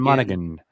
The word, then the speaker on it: Monaghan: this is pretty cool um the uh Cameron Monahan mod how do you say his last name I read it again Cameron Monaghan he has an interview that just came out